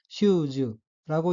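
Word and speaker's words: シューズ: 따라서 단어 전체는 슈즈라고 읽으며 엑센트가 첫음절인 시에 있고 슈즈는 슈즈 단화라는 뜻입니다.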